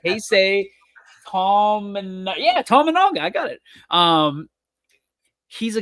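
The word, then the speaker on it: Keisei Tominaga: I think I spelled his name right or pronounce his name right. Keisei Tamanaga.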